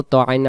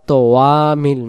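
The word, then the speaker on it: طَعَامِ: এখানে ইয়া অক্ষরে কিছু নেই, উচ্চারণ হবে না, এভাবেই থাকবে আলা। ত জবর ত, আইন আলিফ জবর আ, তো আ, তো আ।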